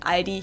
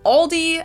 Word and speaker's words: Aldi: In English, people usually pronounce this Aldi. I think I've also heard Aldi before, but I think most people say Aldi. Or they also sometimes add an S that isn't there in the end and say Aldis.